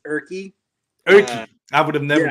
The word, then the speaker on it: Urke: It's Urke. Urke. I would have never guessed that one. So Nope, it's just like it's like written, like it's spelled.